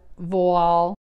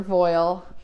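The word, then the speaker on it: voile: silks and rayon gauze vol or voil depending on how you learn to pronounce it double georgette so i picked wall it has a little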